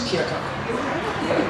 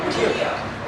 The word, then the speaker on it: Keokuk: I've heard Keokuk and Keokuk. Keokuk. Keokuk. Okay, got it. It's Keokuk. Keokuk. Thank you, Mayor Richardson. And even the natives say Keokuk, and there's no L in Keokuk, but they say Keokuk